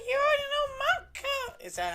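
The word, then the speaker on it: Monika: And it sounds like you already know Manka. Is that how you pronounce that?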